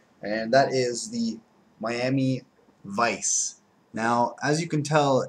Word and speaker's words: Weiss: that that was pronounced Weiss but this is not the correct way of saying uh what you're uh looking at there it is supposed to be pronounced like Vice like adal Vice uh